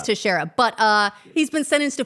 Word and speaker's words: Teixeira: Or as it's pronounced on the popular morning podcast, Morning Somewhere, Texerteria.